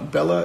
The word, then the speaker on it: Bella: Bella is a giant German shepherd. I will post a picture of her later. And yes, it does rhyme with Stella.